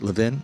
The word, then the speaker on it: Levin: Say it right, Levin?